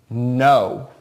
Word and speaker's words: know: first way that rhymes no no it's got a silent K and instead of just ending with an O W at the end that's a pretty big